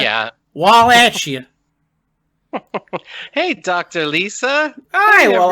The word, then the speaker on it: Wallachia: the uh country of uh uh is it pronounced wallachia wallachia yeah wallachia hey dr lisa hi well i am yeah